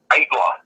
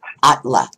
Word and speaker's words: Aittala: And then I was like, is it Aittala? No, it's Aittala. Okay, say that again. Aittala. Oh, wow. Is this like a, what? It's a Finnish name.